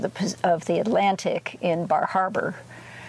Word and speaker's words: Bar Harbor: of the Atlantic in Bar Harbor or bahaba as they pronounce it and uh and so